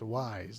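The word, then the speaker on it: Weis: it up finally and that is how you say it it's wise not we wise it's wise uh so that is the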